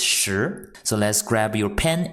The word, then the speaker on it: 时: inch on the right the pronunciation is sure so let's grab your